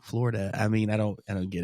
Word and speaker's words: Florida: That's it's like people I think a lot of people say Florida, and I'm like, it is not an A, it's an O, Florida.